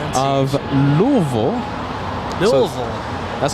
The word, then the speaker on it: Lille: David Hibert helping us uh with that pron pronunciation of Lille Lille that's how Captain k told me to say